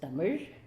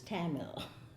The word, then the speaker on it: Tamil: Properly pronounced, it is Tamil. Anglicized, it is Tamil.